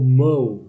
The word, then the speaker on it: mow: Let's move on to part C, pronunciation. Number 1, gulf. Not gulf, gulf. 2, governor. 3, area. Not area. Area. 4, mow. Not move, mow.